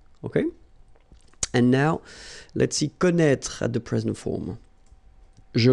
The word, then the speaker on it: connaît: Well, you pronounce these three forms the same way.